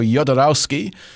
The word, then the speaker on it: Jodorowsky: But you were talking about the 1973 movie by Alejandro Jodorowsky. I'm guessing that you pronounce the J like that in his name.